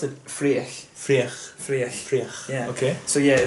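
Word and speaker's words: Fraoch: How do you pronounce it? Freich.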